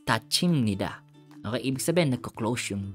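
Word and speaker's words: 닫힙니다: So sa elevator guys, pag sumakay ka, pag nagsarado yung pinto, instead na tada yung maririnig mo, it's tathida, it's tachimnida.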